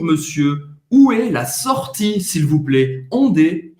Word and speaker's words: s'il vous plaît: S'il vous plaît, o T ao final não vai ser pronunciado e o A, I